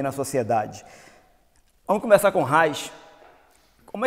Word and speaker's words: Reich: Então o Reich, que muita gente inclusive lá fora não pronuncia assim, né? Reich. Reich é bem brasileiro. Quando nós falamos assim, o Reich. Por essa linguagem mais europeia seria mais Reich. Mas para nós é o Reich.